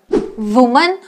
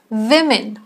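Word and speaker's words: women: नो it's data data वुमेन नो इट्स वुमेन वुमेन bowl no इट्स बोल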